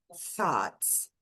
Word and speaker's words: thoughts: Então, thoughts.